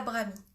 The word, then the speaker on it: Brahmi: Donc, c'est Brahmi. Brahmi, ça s'écrit B-R-A-H-M-I et.